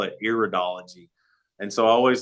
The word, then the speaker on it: iridology: you is that you you said iridology correct a lot of people mispronounce it and call it iridology and so I always